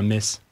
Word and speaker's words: Metz: À tous les Messins qui nous écoutaient, c'est bien Metz. Mais ça s'écrit TZ, t'inquiète pas que tout le